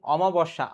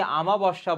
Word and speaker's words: অমাবস্যা: কাদো নদী কাদো, উজানে মৃত্যু, চাঁদের অমাবস্যা, অনেকে আমাবস্যা বলে, সঠিক বানানটা অমা হবে।